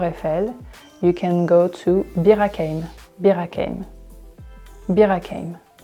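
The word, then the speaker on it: Bir-Hakeim: you can go to Birakeim. Birakeim. Birakeim. So this one is a bit tricky because it's not a French name, so we pronounce it with a French accent.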